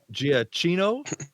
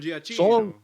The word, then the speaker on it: Giacchino: Yeah, so the music is by Michael Giacchino. I believe that's how you pronounce his last name. Michael Song, Giacchino.